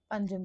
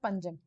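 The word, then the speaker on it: Panjim: इधर आ जाएगा पंजिम बोलते हैं इसको। वैसे अगर हम इसका स्पेलिंग के हिसाब से देखेंगे तो इट इज पानाजी, वैसे इसको प्रोनाउंस क्या करते हैं, पंजिम।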